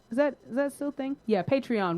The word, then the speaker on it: Patreon: Yeah, Patreon with the EON.